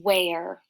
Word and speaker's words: where: The next word is where. Where. In this word, the WH is a digraph, so it says w, and the ERE says air.